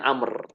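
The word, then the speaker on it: عمرو: Tapi kalau Amr sebaliknya, ada wawu yang tertulis cuma nggak terucap.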